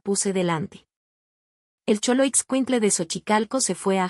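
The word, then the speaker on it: Xochicalco: Contenía la letra X con tres pronunciaciones distintas y muy específicas del español mexicano. El sonido es H de Sochicalco, el sonido S al inicio de Choloit Quintle y el sonido de la J en Jalapa.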